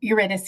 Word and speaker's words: Eurydice: Eurydice is how I pronounce it, but you aren't wrong, Nicholas.